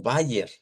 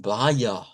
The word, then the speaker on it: Bayer: Bien, todo el tiempo la hemos escuchado como Bayer. Pero si nos vamos al Dodge y nos vamos al dodge, o sea, el alemán puro, esta er se pronuncia con esta a centralizada y ellos dicen vaya, vaya.